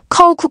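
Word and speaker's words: coke: 코카콜라를 의미하는 전자는 코우크 코우크라고 이중 모음을 넣어 발음하고 후자는 미식으로 단모음과 들어간 각 영식으로 단모음가 들어간 콕에 가깝게 발음한다.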